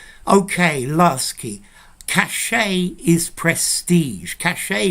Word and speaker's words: cachet: Cachet is very French. Notice I'm not pronouncing the T, which tells you it's French.